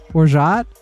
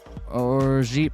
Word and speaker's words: orgeat: I I I know it's I know it's some kind of I believe it's pronounced orgeat. Orgeat? It's one of those words I only ever seen written down. Orgeat pronunciation.